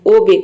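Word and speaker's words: obey: इसमें हम ई को ए प्रोनाउंस करते हैं। ओबे, ओबे मीन्स होता है आज्ञा मानना।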